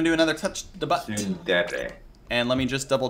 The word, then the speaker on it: tsundere: Are they tsunderers? How do you say that, Republic? Tsundere.